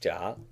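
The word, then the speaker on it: 家: is the word family that's pronounced job in Chinese and it means family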